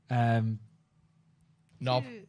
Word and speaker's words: knob: Knob. That's 4. That's K. Silent K.